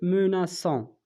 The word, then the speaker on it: menaçons: donc je menace, tu menaces, il menace, nous menaçons, nous menaçons. donc هنا يعني علاش زدنا ديك الشرطه لتحت ديال السي باش ما يتنطقش نو موناكون, نو موناكون.